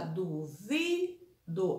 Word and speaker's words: duvido: Então, a sílaba duvido, a mais forte, a vi, ela é a penúltima, então ela é paroxítona, tá bom?